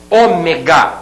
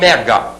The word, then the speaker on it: Ômega: a gente tá também relacionando aqui Ômega e não ega Ômega proparoxítona você vai observar que todas